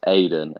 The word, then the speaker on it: Eden: Because all the commentators say Eden Hazard's name, they say it like Eden Hazard. They say it like that. So he's actually written the words Aiden and then Hazard.